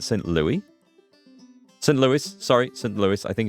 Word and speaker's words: St. Louis: St. Louis. I think it's You pronounce the S, don't you, on this one.